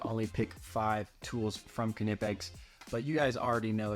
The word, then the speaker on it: Knipex: know anything about canipex you know first of all that it's pronounced knipex all you trolls out there say whatever you want all right but the official YouTube of canipex all their socials say cutting it backs so eat that